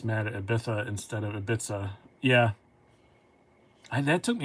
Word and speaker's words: Ibiza: cia ibiza and then somebody said no it's a bith i go oh like the place and i was like yeah like where's the ibiza yeah you're you're correct j-turn yeah it's ibiza like the place and